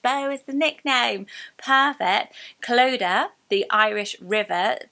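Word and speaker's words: Clodagh: for girls with Bo is the nickname perfect cloda the Irish River spelled c-l-o-d-a-g-h cloda um right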